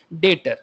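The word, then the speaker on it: debtor: ओ आर ठीक है बहुत लोग बाय मिस्टेक इसको डेप्ट भी कह देते हैं कभी-कभी this is not called डेप्ट बी यहां प्रोनाउंस नहीं होता डेटर ठीक है तो डेटर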